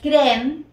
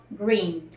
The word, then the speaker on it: green: dice verde en inglés pues no es gren sino Green Recuerden que cuando en